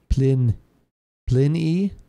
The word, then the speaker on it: Pliny: oh no that is that is how you pronounce it Pliny the Elder plin y at least that's how we are that's yeah